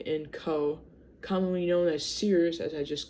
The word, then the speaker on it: Sears: see the screen but it says s e e rz z. That's how you supposed to say it.